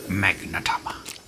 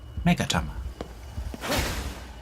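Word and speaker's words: Magatama: Magnatama. Oh, I keep saying Magna. Ah, flip, I need to pronounce. Megatama.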